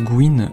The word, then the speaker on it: Gwen: Alors Gwen, qui se prononce Gwyn en anglais, son nom a été changé pour la version française, pour éviter des jeux de mots pourris évidemment.